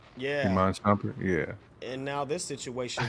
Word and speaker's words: Shumpert: Jenny Ma, who was Tiana Taylor dumping Inman Sherbert. Yeah. Iman Shumpert, yeah.